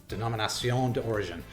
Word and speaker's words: Denominación de Origen: Denominación de Origen.